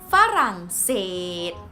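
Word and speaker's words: ฝรั่งเศส: last one France France in Thai language is far insane gota seed foreign seed or protect foreign see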